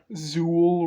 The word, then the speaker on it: Zuul: if it was longer Zuul really rhymes with Jewel citacosaurus another early topsid